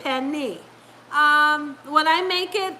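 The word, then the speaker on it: pernil: I know it says per meal it looks like you want to pronounce it per meal but you pronounce it Penny um when I make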